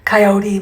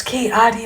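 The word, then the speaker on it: Coati: mispronounced kiot Mundy's name it's not Kai or KY or whatever she said coyote Mundy it's kotti Mundy another factor is who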